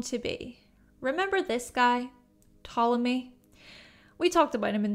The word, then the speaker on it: Ptolemy: okay well Greek astronomer Ptolemy thank you by the way to the commenter who said that the p is silent thank you Ptolemy published the almagist Alma